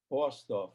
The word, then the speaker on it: Borsdorf: It's Rainer, Rainer, Borsdorf, B-O-R-S for Sam, D-O-R-F.